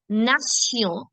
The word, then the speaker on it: nation: When you see the combination Tion, the sound is Sion. So nation, attention, solution.